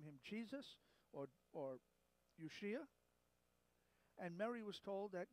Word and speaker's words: Yeshua: Jesus' name in Hebrew, also in, by the way, in Aramaic, it's almost the same. It would be Yeshua. And that's, if we were to spell it in English, it would be Y-E-S-H-U-A, Yeshua.